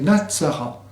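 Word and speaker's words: نصارى: Le mot traduit ici par chrétien est Natsara, dont la prononciation évoque bien sûr Nazaréen.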